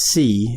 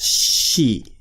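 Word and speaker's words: し: an exception to pronunciation it's not pronounced see it's pronounced she so it's often written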